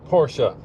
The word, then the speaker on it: Porsche: How do you say the maker of the 911? Porsche. Yeah, that's because that's how the Germans say it.